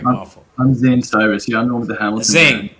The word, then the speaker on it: Zane Cyrus: brother your name is again I want to pronounce it right my I'm Zane Cyrus yeah I'm with the Hamilton Z okay Zay